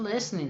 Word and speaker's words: listening: Lembrando que aqui a gente não pronuncia o T nesse verbo, tá, gente? Listening. Tá? Por causa de uma coisa que nós chamamos de silent letter. Nós, no português, chamamos isso de letra muda. Em inglês nós temos bastante também. No caso aqui do listen, é o T.